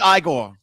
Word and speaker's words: Igor: Feldman and uh Frankenstein no I'm sorry it's pronounced Igor ithm that's my that I've seen I